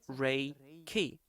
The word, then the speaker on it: Reiki: is universal life energy more truly it sounds like this the space is imbued with the original energy in japanese it's called ray ki that's why in japan